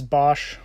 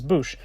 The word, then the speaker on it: Boushh: a side note here, I've heard it pronounced many different ways: Bosch, Bausch, Boushh, and I couldn't figure out which one was correct, because, well, they haven't really put him into a movie and actually spoken his name. So I actually came across an audiobook from Episode 6, Return of the Jedi, where they actually pronounce it as Boushh, which I thought was cool.